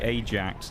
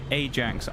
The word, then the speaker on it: Ajax: Now, I will say actually admittedly on paper, I had a look at the Ajax really quickly or the Ajax. That's Ajax. Ajax, that's how people are pronouncing it, whichever way.